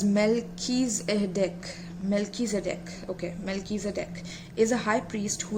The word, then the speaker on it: Melchizedek: Melchizedek, pronounced as Melchizedek, is a high priest who is mentioned in the Bible's book of Genesis and many other sources too.